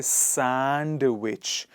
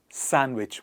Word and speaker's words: sandwich: is so predominantly confused we don't say sandwich we say sandwich what do we say